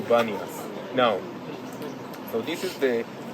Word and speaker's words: Banias: Now, because of the local Arabs, they cannot pronounce the letter P, and they would say Banias. Very simple with B, like say pizza instead of pizza. So this is how the name was changed from Panias to Banias.